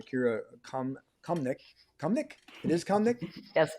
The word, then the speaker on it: Kamnik: It is Kamnik? Yes, Kamnik, Make right.